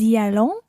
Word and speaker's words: nous y allons: And notice that we pronounce the s of nous y allons.